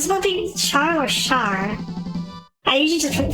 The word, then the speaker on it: Char: I know that Camille getting his brain fried is the reason why Char ended up the way he did in Char's counterattack.